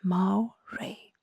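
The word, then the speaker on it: moiré: The absolute worst nightmare of any digital comic creator is the mo pattern pronounced as ma ray.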